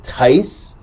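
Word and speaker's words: ταῖς: All right, so dative plural, it says Tice, so Tau, Alpha, Iota, Sigma.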